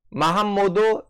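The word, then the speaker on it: Mahamadou: 마함모드 이소프. 마함모드는 이제 모함메드인데 니제리식 발음이죠.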